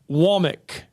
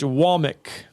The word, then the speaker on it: Womack: It's Womack. Yeah, Kane Womack. Womack. W-A-H. Womack.